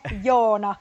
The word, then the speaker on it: Joona: I'm sorry, forgive my mispronunciation. Is it Janne? Janne. Jan. Sorry. Yes. It's okay, but it's Janne, Joona, Juuso.